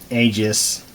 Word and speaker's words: Aegis: look at a new module it's a g-skill Aegis that's how you pronounce it dr4 3200 so I'm going to